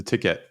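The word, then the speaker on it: TKET: to all this um the the ticket um so it's spelled TK for listeners um just recently as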